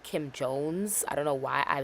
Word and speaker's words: Kim Jones: bags and totes and Kim Jong. I always pronounce his name really extra. It's definitely Kim Jones.